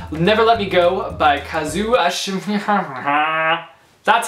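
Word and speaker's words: Kazuo: got to me Never Let Me Go by Kazu that's how you pronounce the name I do know that this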